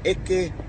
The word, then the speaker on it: Eketahuna: It's Eketahuna. Now, there's nothing hard in this particular place name. I suppose the hardest thing would be pronouncing your vowels, and they're all short. There's no stressed vowels in it.